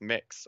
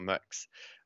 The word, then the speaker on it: Mx: neutral version of that is mx which is pronounced mix or mux um and so when